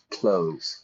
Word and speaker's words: clothes: wore the major clothes noce a pronunciation there I don't say like clothes or anything I just say like you know you open the door you close the door I wear clothes same pronunciation okay someone else wore the